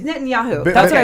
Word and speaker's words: Netanyahu: And then when Netanyahu, how do you say? It's Netanyahu.